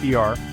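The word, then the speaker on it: 二: For example, the number two in Mandarin is pronounced eer, but in Cantonese it can be y or leong.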